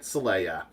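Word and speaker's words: Xelaya: officer back to planet Celaya the planet named for Mount seleya they only they spell it with an X instead of an S but they still pronounce it Celaya I want to say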